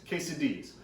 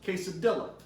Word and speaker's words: quesadilla: joke haha today we're gonna be making cheese quesadillas now I know what you're thinking and don't that looks like it should be pronounced case of Dilla true but I have it on good authority